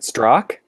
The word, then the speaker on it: Zdrok: Before I do that, I want to know if either one of you knows how to pronounce my last name. Is it Zdrok?